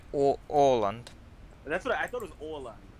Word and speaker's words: Åland: Is it pronounced like Uland, like the islands? Yeah, Is all. is it Åland or Uland? I never knew. It's like Åland.